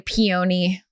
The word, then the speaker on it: peony: I would have expected her more like floral, like a peony. Peony. Peony. Peony. I do know how to pronounce that. Peony's a weird pronunciation. Peony. Yes. Not peony. No.